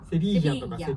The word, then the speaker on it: Sevilla: セビリアセビージャ、セビージャセビ